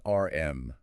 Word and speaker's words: Arm: The ticker is ARM pronounced just like the word ARM.